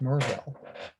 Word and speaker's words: Maryville: tennessee they call it it's spelled maryville but they call it against merville but it's where we